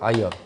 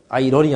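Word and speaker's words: iron: 아이언. 이거 R 발음 안 하죠? 아이언이 뭐죠? 쇠덩어리, 철. 그러니까 철손이에요. 철손. 이거 뭐죠? P는 카파라죠. 카파. 구리입니다. 얘는 철이라는 뜻이고요. 영어로. 아이언이었습니다. 아이런이 아니라 아이언.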